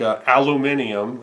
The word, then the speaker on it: aluminium: So they have hilarious little bends on their words, like aluminium. Okay, whatever. Maybe it's spelled or seems to want to sound that way, but I say aluminum, but aluminium, right?